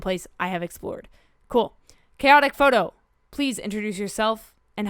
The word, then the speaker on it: Chaotique: instagram handles chaotic photo people uh honestly they get that mispronounced quite frequently but it's it's just chaotic photo um i want to